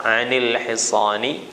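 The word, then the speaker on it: عن الحصان: dan lam yang mati, maka nunnya diberikan harokat untuk memudahkan. Dikasih harokat kasrah, anil hisani, ya, dan anil tifli, ya, dibaca kasrah untuk menyesuaikan harokat setelahnya. Karena hisan itu harokatnya kasrah, maka dibacanya anil hisani, ya.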